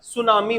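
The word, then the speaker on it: tsunami: तो सिंपल सा है सुनामी है ना इसमें टी का उच्चारण नहीं होता सुनामी बोलते हैं तो ऑप्शन नंबर बी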